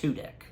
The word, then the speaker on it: Tudyk: I think his last name, I believe, is pronounced Tudyk.